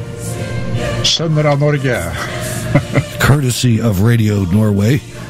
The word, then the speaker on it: Sønner av Norge: And just a show note, if you will, in the background, you're listening to the Sons of Norway, and in Norwegian, that is pronounced Sønner av Norge.